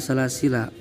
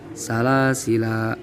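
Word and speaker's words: سلاسلا: Terus dia pelajaran dina salasila. Cara baca lafaz salasila ayat 3. Hiji, ketika dibaca waqaf maka boleh dibaca sukun salasil jeung boleh dibaca panjang salasila.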